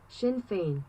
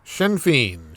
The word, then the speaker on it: Sinn Féin: Pronunciation. Here we go. Sinn Féin. Sinn Féin.